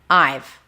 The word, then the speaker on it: I've: So have turns into v. I've.